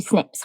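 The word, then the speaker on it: SNP: So let's start with the word genomics and break it down right down to single nucleotide polymorphisms which we abbreviate to snips when we pronounce it.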